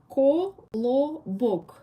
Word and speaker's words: Kolobok: This guy, we call him in 3 syllables, Kolobok, Kolobok.